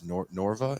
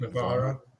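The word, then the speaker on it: Novara: Norva? Am I saying it right? Navarra. Yeah, and they don't really talk about the U.S.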